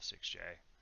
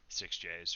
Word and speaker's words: SixJ: He just told me that he likes to call himself 6J. Now it's like standardized, and he's trying to get that pronunciation out. I've been calling him 6Js for a long time, so I've gotta fix that. Anyway, yeah, 6J has Mozaki Mage.